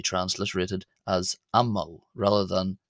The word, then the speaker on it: ⲙ̀ⲙⲁⲩ: So imagine the diiocritical mark the jenkum or jinkim being as if it was written the letter a before the m as if this word was spelled a m m a u and it is pronounced am mo ammo.